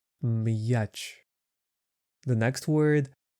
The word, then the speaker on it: м'яч: The word m. This sound is not affected by the sound yah. So it stays hard. Match.